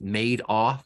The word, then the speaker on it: Madoff: reminded me of Bernie Madoff spelled m-a-d-o-f-f but pronounced made off like he made off with the money right remember Bernie Madoff